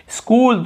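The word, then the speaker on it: school: स्कूल, तो आप हर बार सुने होंगे स्कूल, देखिए एस सी को पढ़ रहे हैं और डबल ओ एल को पढ़ रहे हैं, स्कूल ऐसे पढ़ रहे हैं, स्कूल, लेकिन एच को लिखना है भाई, हमें भूलना नहीं, स्कूल यानी विद्यालय।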